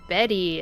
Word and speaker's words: Bette: And you know, I have confirmed that the character's name is pronounced Betty.